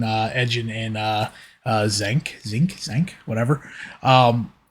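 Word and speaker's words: Xenk: second scene is when when zinc however however it's pronounced zank I think is how they were pronouncing it in the movie is giving his background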